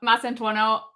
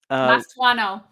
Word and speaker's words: Mastantuono: Pronouncing Huijsen's name wrong and calling Mastantuono. What do they call him? Mastuano.